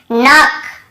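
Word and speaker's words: knock: जैसे देखिए नॉक, नॉक खटखटाना, नॉक नॉक, ऐसा तो नॉक, यहाँ पर भी के साइलेंट होता है, क्नॉक नहीं पढ़ेंगे, केवल नॉक पढ़ेंगे।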